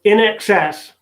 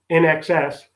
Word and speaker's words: INXS: Okay, so in excess, and that's spelled INXS, in excess.